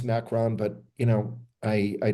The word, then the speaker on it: Macron: all of a sudden you've got macaroon and the French involved again yes I know his name is macron but you know I